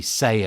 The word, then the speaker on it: SEI: assessments and we use the say assessment from six seconds and that's spelled s-e-i it's actually two s's it's called six seconds emotional intelligence and that's SEI or say the funny thing is